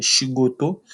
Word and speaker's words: shigoto: Oui, oui, ça se dit shigoto.